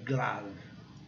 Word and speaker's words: glove: A pronúncia seria glove, se nós fôssemos seguir a regra, mas nesse caso é exceção. Então é glove.